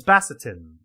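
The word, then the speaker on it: Basitin: shouldn't you kissed ambassadin is it bassetin or Bastin it's bassetin because that's how it's spelled like I'm gonna try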